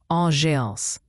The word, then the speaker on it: engeance: Inéance se prononce enéance.